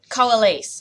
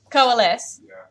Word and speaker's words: coalesce: a lot so I should be able to pronounce it Cola lease that's an a it's gonna be an a noise let's look on the Google how to pronounce that later coalesce now I believe you is coalesce okay cut